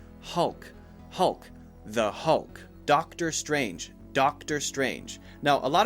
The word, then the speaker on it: Strange: strange make sure you say just a J sound and nothing else don't add an ER I've heard a couple people add doctor stranger stranger with an extra sound after it strange should be a